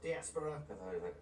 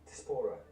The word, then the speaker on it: diaspora: for it is yes diaspora get a pronunciation right wrong despora describes the migration of